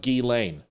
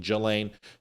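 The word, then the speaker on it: Ghislaine: Donald Trump did this, which he won't, it's pronounced G Lane. That's not what people are saying. People are saying multiple names. They're saying Gizlin. They're saying Gillain. They're saying Gilain.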